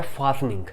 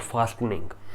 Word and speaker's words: fastening: अब ये देखिए, इसमें टी को मैंने एनसर्कल कर रखा है, टी को, इसीलिए हम टी को प्रोनाउंस नहीं करेंगे। इसका मीनिंग होता है फास्टनिंग। इसका प्रोनाउंसिएशन है फास्टनिंग, नॉट फास्टनिंग।